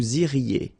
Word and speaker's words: iriez: Vous iriez. remember, when you get this EZ at the end, you get the sound E, okay?